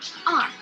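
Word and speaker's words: 二: You pronounce it as R.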